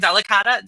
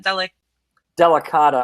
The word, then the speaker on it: Delicata: Delicata? Delicata, I think is how you say it.